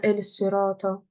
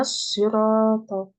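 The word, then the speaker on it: الصراط: Est-ce que vous disiez Ihdina el-sirat? Vous disiez pas Ihdina Ihdina el-sirata. Vous disiez pas ça. Vous dites Ihdina as-sirata, Ihdina as-sirata al-mustaqim.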